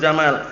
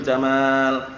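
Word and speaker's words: جمال: Pernah dengar dibaca pendek, innallaha jamilun yuhibbul jamal.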